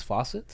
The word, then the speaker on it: Fawcett: reason is it verified that his name is Fawcett yeah that's how you pronounce it yeah okay so this gentleman was